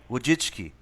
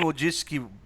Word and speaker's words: Wojcicki: How do you pronounce her name? What? Wojcicki.